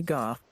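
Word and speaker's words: Havel: I believe his name is pronounced like Go, like Van Gogh. But you also pronounce it Go.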